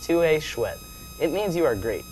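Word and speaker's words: tu es chouette: It's pronounced TUE CHOUETTE.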